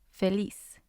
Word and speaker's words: feliz: It has 2 syllables. Lis is the first syllable. Fe is the second one. So the stress is on lis. And when I said the last syllable, I mean when we write it. So the stress is going to be on lis.